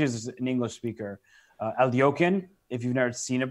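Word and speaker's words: Alekhine: mean if especially as an English speaker uh alokin if you've never seen it before you definitely wouldn't spell it a l e k h i n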